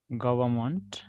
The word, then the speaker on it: government: No, N is not silent in government.